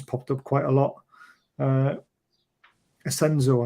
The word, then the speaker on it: Asensio: Asensio, I think is how you pronounce it, isn't it? Is that how you pronounce it? Asensio, yes. Yeah, Asensio.